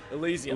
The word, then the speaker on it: Elysium: there was District 9, and there was how do you pronounce it? Elysium or Elysium. Elysium.